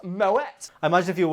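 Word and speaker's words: Moët: Actually, I think you'll find it pronounced Moet.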